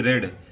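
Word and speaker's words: read: तो इसकी इंग्लिश होगी हैड ही रेड। ये रीड जो है, रेड जो है रीड ही की तरह लिखा जाएगा, लेकिन इसका प्रोनाउंसिएशन जो है थर्ड फॉर्म में चेंज हो जाता है, ठीक।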